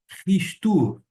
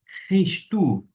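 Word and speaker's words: Χριστοῦ: Se a pronúncia adotada por este erasmiano, uma ligeira adaptação, eu vou fazer um som mais arrastado do CH alemão, fica assim, Christu, Christu, e vou ler na sequência, que está destacado.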